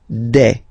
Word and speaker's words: des: Okay, and then the plural form, des. All right, here s you pronounce it like e.